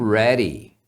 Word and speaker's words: ready: ready aqui a palavra você pode pronunciar assim Ready no inglês americano eles pronunciam esse D como se fosse um R então isso acontece sempre que a letra D está no meio de dois sons de vogal então Ready Ready eu estou pronto né